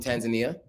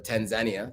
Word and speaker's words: Tanzania: Okay, so Diamond Platnumz from Tanzania, or Tanzania, depending on who you ask, how you pronounce it.